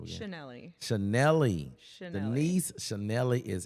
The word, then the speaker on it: Schnelle: How you pronounce your last name again? Schnelle.